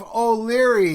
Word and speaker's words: O'Leary: got with me O'Leary how you doing good brother how are you man I'm doing great I pronounced your name right yeah you sure did alright cool man so